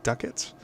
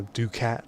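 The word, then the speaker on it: ducats: the other one being Duckett's or Duke it's however you want to pronounce that you could pronounce a ducat sword but I've always heard it pronounced Duckett's so I'm just gonna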